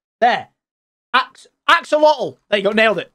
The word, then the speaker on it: axolotl: in these waters you can find is it axolotls ocelots excel i keep saying it wrong apparently